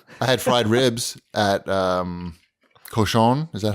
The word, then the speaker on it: Cochon: I had fried ribs at Cochon.